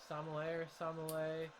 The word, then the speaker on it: sommelier: Sommelier, the wine tasting people.